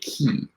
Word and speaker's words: ki: Gray, the main character, can use this thing called the key, which is spelled K-I, and it's sensing, going into someone else's body via like kind of mental like telepathy and sensing their emotions.